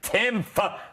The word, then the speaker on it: Timpf: I'm here tonight with campus reform reporter Katherine Timpf. The P is silent.